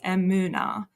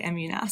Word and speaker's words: Emunah: Emunah is a Hebrew word, so it's actually correctly pronounced Emunah. I always just say Emunah, so whatever works.